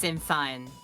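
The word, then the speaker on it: Sinn Féin: Is it Shinfane? Yeah, probably. Yeah, there's some kind of Gaelic pronunciation to it. Yeah, I thought it was Shinfane. Yeah. No, I I've always heard it Shinfane, but you know what?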